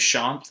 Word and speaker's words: Shanth: Some of you guys know my name, but my name is Shanth. That's how you pronounce that, Sean with a TH.